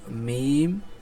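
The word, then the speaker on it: ميم: চার সেকেন্ডে পড়তে হবে আর মিমটা উচ্চারণ হবে দুই ঠোটের শুকনা জায়গা হতে মিমটা হবে দুই ঠোটের শুকনা জায়গা হতে বাটা ছিল হল দুই ঠোটের ভিজা জায়গা থেকে আর মিমটা হল এর বিপরীত যে দুই ঠোটের শুকনা জায়গা থেকে উচ্চারণ হবে মিম মিম তারপর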